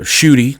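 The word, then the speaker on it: Ncuti: to be um uh shooty is the way you pronounce the new uh Black Doctor's name okay uh I'm still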